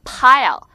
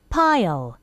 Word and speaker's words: pile: 역시 마찬가지로 비슷한 발음일 것 같지만, 자, P는 입술 두 개가 붙는다 그래요. 그래서 이거를 한국말로는 양순음, 입술 두 개를 붙이는 프. 근데 F는 니가 아랫입술을 살짝 물면서 바람이 슝 나가면서 아주 섹시하게 이렇게 발음하는 거죠. 자, 그래서 발음을 해보면 입술 두 개가 붙습니다.